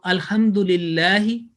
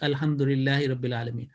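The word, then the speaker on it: الحمد لله: people of language that when ha is coming the previous letter if there is a mutha har that will be elongated okay and so that is one so alhamdulillah and again the pronunciation will be alhamdulillah again and vertical upon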